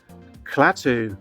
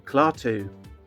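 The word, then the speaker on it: Klaatu: next up we have clat or clu um depending on how you say his name this of course uh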